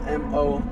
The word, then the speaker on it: mole: Mole. It's MOLE. Kind of like mole. Accent, right? Yeah. Okay, mole.